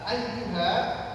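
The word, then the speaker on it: أَيُّ: Eh, ayyuha bapak-bapak kalau panjenengan baca ya yang di ya itu sifatnya rakhuwah dan ada syidahnya. Rah itu suara mengalir. Ai a a setelah itu citakan ayu ayu. 1 2 3 ayu ayyu. Ayyu.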